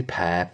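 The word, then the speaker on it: Perre: I say Pear. P-E-R-R-E. How would you pronounce that? Is it Pierre, because that'd be an little accent on it already. But no, so it's like Pear.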